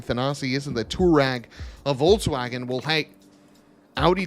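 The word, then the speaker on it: Touareg: you guys are probably saying thanasi isn't the tourag a volkswagen will hank audi did i mean uh aprilia did it first and they spelled it correctly this bike is spelled t-u-a-r-e-g tour rag which is how that car should be spelled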